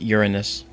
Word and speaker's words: Uranus: No, DK, you don't roll the R. It's just Uranus.